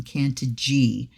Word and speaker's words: Cantigee: what is Kant and then they have the pronunciation can G is a word created from two Roots cantis